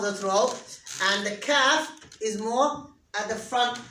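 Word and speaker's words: كاف: Where is the calf pronounced from? Someone tell me. Good boy. Top of the throat.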